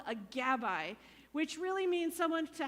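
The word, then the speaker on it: gabbai: two thanks Rabbi hbr it rhymes with Rabbi Gabby Rabbi they're almost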